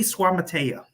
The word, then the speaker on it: Suamataia: But Kingsley Suamataia, that's his name.